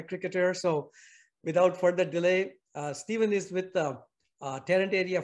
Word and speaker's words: Stephen: but I still keep confused how to pronounce his name. He spells it S-T-E-P-H-E-N. So being fanatic, I just kind of say Stephen, and my wife keeps saying, no, it's Stephen.